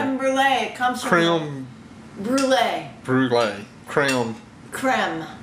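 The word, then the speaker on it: crème: Brule it comes from crem Brule Brule crem creme crem crem not like cranberry like cram no not like like creu in French it's crem crem she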